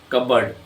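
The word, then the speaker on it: cupboard: कबर्ड, ये बी की मिसाल है।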